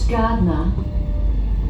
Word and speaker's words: Gardiner: Now arriving at Gardner. Gardner, that's what it's not Gardner, not Gardner, Gardner, okay. Gardiner, I thought so they pronounced it Gardner.